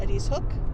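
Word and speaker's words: Ediz Hook: But before we left, we went to Eddie's Hook. I think that was how they pronounced it. E D I Z.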